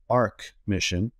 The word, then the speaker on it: Arch Mission: first of all um we pronounce it Arc Mission as an archive even though it's spelled Arch and we actually both